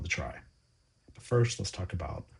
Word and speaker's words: trie: It's derived from the word retrieval, but we pronounce it like try because we don't want to confuse it with other trees such as the binary tree or the search tree.